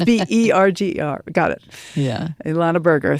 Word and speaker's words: Berger: It's burger, like a hamburger. Okay. But it's BERGER.